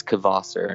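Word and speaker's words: Kvasir: at the number four spot is the band kvasser how do you spell that k-v-a-s-i-r and i believe i'm saying it right i believe it's kvasser not kvasser um i'll go with that and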